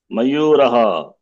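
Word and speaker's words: मयूरः: Mayuraha. Mayuraha. Okay. Eshaha ka. Eshaha mayuraha. Eshaha kaha. To Kaha. pronounce the visarga also. Eshaha mayuraha.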